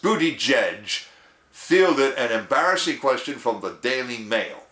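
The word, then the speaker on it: Buttigieg: Transportation secretary Pete uh b-u-t-t-i-g-i-e-g pronounced booty judge fielded an embarrassing question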